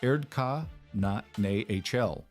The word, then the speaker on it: Erdkanal: In 1897, a German architect named Heinrich Schaller, working in the Rhine Valley, published a paper on what he called the Erdkanal, pronounced Erdka na HL, meaning the Earth Channel.